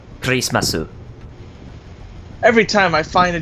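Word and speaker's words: クリスマス: I know they say how do you say Christmas and they go crease my suit I'm like really piss my suit yeah grace my suit every time I find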